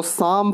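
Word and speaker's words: psalm: पढेंगे तो पीस में और एल्बी साइलेंट हिल साइलेंट का रूल आपने देखा तो इसको शाम पढेंगे शाम मतलब होता है भजन तो पीस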